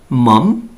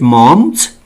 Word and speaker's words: Maugham: the writer of the story is William Somerset Maugham. Students, Maugham. This is not Maugham. This pronounced person's name is William Somerset Maugham.